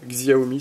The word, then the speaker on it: Xiaomi: mode un chai xiaomi xiaomi si on prononce à la française eh ben il ya